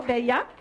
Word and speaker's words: Bella: And I said her name is Bella, but pronounced it in Espanol, Bella.